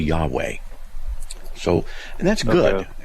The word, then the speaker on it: Yahweh: All right, so how do you pronounce it? No one really knows. So is it Yoho, Yahweh, Yahweh, Yahi? You know, so depending what vowels you put in there, but generically speaking, the most accepted form that I've seen is simply Yahweh.